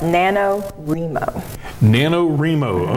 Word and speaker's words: NaNoWriMo: I'm sure I'm going to say this wrong nanor ryer nanor how do you say that it's pronounced nanoo nanoro okay uh it's it's an organization that online